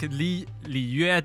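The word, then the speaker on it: Liyue: Like Li Yue, they say it Li Wei.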